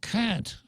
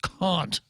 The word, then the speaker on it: Kant: from from there to a manual cat actually pronounced caught but I liked it